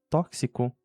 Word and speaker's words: tóxico: A primeira, sendo em xícara, na palavra xícara, ela tem o som de sh em inglês, mas na palavra tóxico ela tem o som de s.